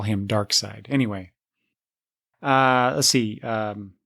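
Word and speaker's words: Darkseid: dark seed uh whenever I saw dark dark side's name printed I you know in my head I pronounced it dark seed until I uh watched the um the Super Friends Legendary Legendary superpower show from 1984 when uh I first heard it pronounced dark side and that took I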